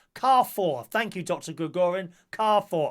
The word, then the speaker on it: Carrefour: Koo gorian kara foul shot pronounced Carrefour thank you dr.